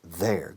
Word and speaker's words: they're: Estoy haciendo la contracción de they are. It's there. Igual que la palabra allí. There. Suena igual. There. Whose objects are these? They're not mine.